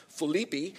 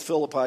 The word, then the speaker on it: Philippi: his dear friends in the Macedonian city of Philippi which actually is pronounced Philippi but I'll go with Philip I because most of you still know that anyway